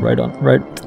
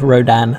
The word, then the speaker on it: Rodan: in Japan so it's he's called rodon said it wrong he's called Rodan now so I like the